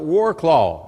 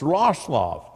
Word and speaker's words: Wrocław: But every time I'd say Warclaw, I'd almost get clobbered because they'd say it's not Warclaw, it's Wrocław. I said, all right, I'll try, but y'all be patient with me.